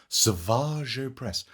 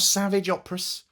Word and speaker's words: Savage Opress: it's pronounced Savage Savage oppress not Savage not Savage operas Savage hello there welcome in the force